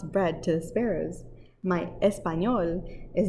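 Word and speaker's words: español: i can run as fast as the boys espanol is how you say spanish in spanish espanol and her english is to poquito tiny or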